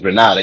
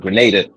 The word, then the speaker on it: Grenada: Like we pronouncing Granada. Yeah. But Grenada. My grandfather's from Grenada.